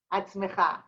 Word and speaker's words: עצמך: תהיה עצמך.